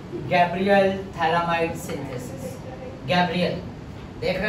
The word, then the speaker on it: phthalimide: इसको बोलते हैं थैलामाइड। क्या बोलते हैं? थैलामाइड। PH silent.